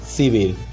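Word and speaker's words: Сибирь: Siberia যার উচ্চারণ সিবির।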